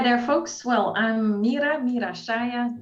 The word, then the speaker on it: Mira Saia: folks well i'm meera meera shaya that's the way we pronounce it in holland and um almost 49